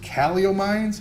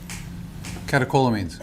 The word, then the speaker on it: catecholamines: The CEW allegedly causes great pain, and this led to increased caliomines. How do you say that? Maybe you can help me out. Okay, thank you. Catecholamines. Catecholamines.